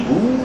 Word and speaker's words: Boers: à la guerre des boers. Les gens disent toujours la guerre des boers, mais il faut dire boer, c'est un mot hollandais. O-E en hollandais, on prononce ça ou.